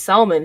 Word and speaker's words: salmon: home and eat this salmon she's like did you just pronounce the L and my mother my